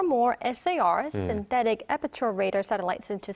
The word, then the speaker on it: SAR: So again, South Korea is planning to launch 4 SAR radars, which in South Korean intelligence community is pronounced SAR. So essentially, it treats SAR, no initials, but also proper noun.